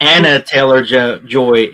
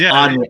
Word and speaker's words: Anya Taylor-Joy: It's not Anna Taylor-Joy. It's Anya.